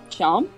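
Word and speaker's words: Seam: Sham? Yeah. Sham? The name's Sham. Oh, pronounced it's like Sean.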